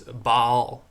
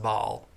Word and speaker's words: Baal: But the other god that was frequently referred to is Baal. I know some people call him Baal. I don't think that's right. I think it's supposed to be pronounced Baal, Baal.